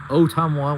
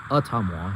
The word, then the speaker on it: Ottumwa: In fact, some people who don't know awa pronounce it very interestingly like otam which is not. It's awa.